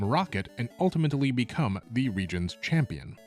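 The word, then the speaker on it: Rijon: a new story and set in a new region called Region. And yes, that is the correct pronunciation according to its creator, Cool Boy Man.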